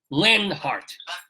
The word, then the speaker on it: Leonhart: to get this right how do we pronounce your name Lenhart oh good you're very very welcome it's it's spelled Leon Hart so there's a Jewish